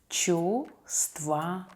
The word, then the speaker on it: чувствовать: The next word is чувствовать. Чувствовать. Verb feel. We don't pronounce the first letter V.